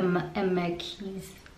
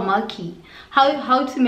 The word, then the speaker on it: Marquis: I was reading How to Marry a Marquise. Is that how you say it? Let me see. Siri's gonna say it for me. Oh, Marquis. Marquis. How to Marry a Marquis.